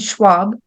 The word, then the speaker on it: Schwab: a little longer so Shep Schwab so that's pronounced Shep and Schwab Chef Schwab shopped at Scott schnaps shop one